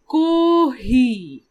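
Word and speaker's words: コーヒー: So the English coffee would be pronounced as kohi in Japanese. So you can see the first row. So ko is there, then a hyphen, then he, then hyphen. So kohi.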